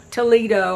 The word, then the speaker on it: Toledo: Toledo. I guess it's it's supposed to be a Spanish city, so it wouldn't be pronounced Toledo like Toledo in Ohio, but that's okay.